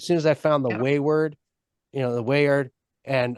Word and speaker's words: Wayward: at the weard and weard I always say it wrong anyway weard Wayward Wayward yeah which is funny